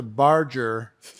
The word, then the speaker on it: Barger: last name it's mispronounced it sounds like it is spelled barge like the boat with the ER pronunciation which you could put